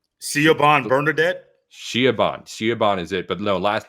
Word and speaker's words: Siobhan: I know it's like a name that like has a common pronunciation, but doesn't like look right spelling. Siobhan Bernadette? Shiaban is it, but no, last name it's Haugh.